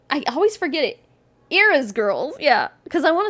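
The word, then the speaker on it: Eara: Okay, so her name is pronounced Erica, but it's spelled Erica, and her mom's name is Ira, spelled E-A-R-A.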